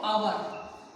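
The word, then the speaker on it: hour: Next बच्चों क्या है, यदि कोई शब्द एच से शुरू होता है जहां एच साइलेंट हो, जिसमें एच की आपको आवाज ना आए, साइलेंट हो एच, उनके साथ एन यूज होता है। देखो क्या एग्जांपल बच्चों, एन आवर, ये देखो आवर, एच साउंड है बच्चों इसके अंदर, लेकिन एच लिखा हुआ है लेकिन साउंड इसके अ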